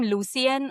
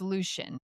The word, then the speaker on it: Lucien: Should we call him Lucien or Lucian? I think it's and how they pronounced it in the audio book was Lucian.